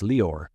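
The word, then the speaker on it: Lior: my special guest is leor Ven and leor it's spelled l i o r it's pronounced just like Christian Dior the brand so it's leor ban now he was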